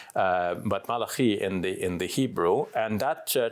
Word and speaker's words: Malachi: English speakers often pronounce it as Malachi, but Malachi in the Hebrew.